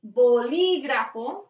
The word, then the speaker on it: bolígrafo: El bolígrafo, acento en la I.